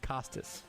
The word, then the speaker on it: Kostas: Jordan, I look, basketball reference said his name is pronounced Costas, like Bob.